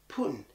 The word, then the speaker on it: Putin: some loud and clear but Americans including myself don't at all and I didn't realize that until I was watching that news clip I was like Putin Putin yeah that's exactly how I would say it Putin now I've been hearing